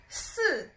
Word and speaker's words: 四: number here in China, because the pronunciation sounds like death or dead. So death or dead in Chinese is 死, 死, it's a third tone. And then the number 4, which is 四, 四, is a fourth tone.